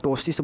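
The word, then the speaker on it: ptosis: उसको क्या बोलते हैं उसे हम लोग toxis बोलते हैं क्या बोलते हैं पीस साइलेंट है इसको याद रखिएगा पीटीसी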